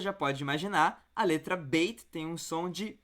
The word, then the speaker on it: Beit: Quando a letra Beit tem esse pontinho, você vai pronunciar bem forte, como um B. Então vai ser Beit. Quando não tem o pontinho, a gente vai pronunciar um pouquinho mais fraco, como a letra V. Então vai ser Veit.